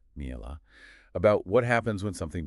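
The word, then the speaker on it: מעילה: It's a concept in Jewish law, pronounced mi'elah, about what happens when something becomes sacred and what happens if, oops, you accidentally misuse it.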